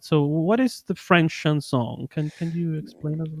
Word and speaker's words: chanson: Am I pronouncing it right? Yeah, chanson.